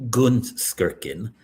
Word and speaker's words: Gunskirchen: Well, and you were close in your pronunciation. It's actually Gunskirchen, but Gunskirchen, okay. it's close enough.